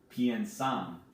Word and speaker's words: piensan: And then the ellos, ellas, ustedes form is they think or they plan, and it's pronounced piensan.